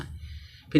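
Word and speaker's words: half: होगा पाम माने हथेली इसी तरह देखो हाफ दिया है लास्ट में एफ है एफ से पहले ए आया तो एल क्या होगा साइलेंट होगा हाफ मान यादा य देखो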